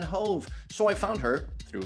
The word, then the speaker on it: Hoeve: Mesdames, messieurs, ladies and gentlemen, Hoeve. Hey, it's Hoeve. Am I pronouncing this right? Not really, but I accept it. How should I pronounce your name? Hoeve. Hoeve.